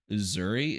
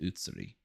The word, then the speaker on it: Uzuri: This is a 1-star out of 5-star hero, namely because that Uzuri is not pronounced Utsuri.